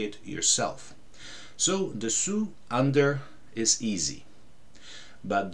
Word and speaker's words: dessous: So dessous, under, is easy.